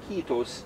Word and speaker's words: kiitos: Well, it's more loose, and like I mentioned before, it's the emphasis always on the first syllable. Even if there's only one, like in kiitos, you have two I's there.